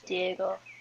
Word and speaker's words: Diogo: It's spelled like Diogo, but it's Diego.